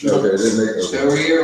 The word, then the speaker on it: Shoria: Also, it's designated in here that it rhymes with diarrhea. Which Shoria, right?